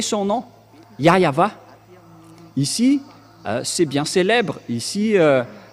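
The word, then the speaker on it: Yahweh: ici chez les Orientaux il prononce vraiment le W par un V ou par un B c'est ici qu'on voit clairement que le W est bien un V mais ce sont les Occidentaux qui l'ont changé en ou mais pour les Orientaux ils prononc bien le le W en tant que V mais c'est le V qui est vraiment la bonne prononciation et c'est pourquoi ils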